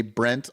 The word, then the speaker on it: Brent: Are you just like Brett with a stuffy nose, Brent? Oh, I hate when people say Brett, but they can't pronounce Brett and they say Brent all the time. God, my name's Brent.